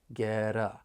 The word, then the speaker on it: get: want to point out first that final T and get because I'm from the US I am going to pronounce it as a flap T that I can then link with the vowel sound in the article uh get I can also link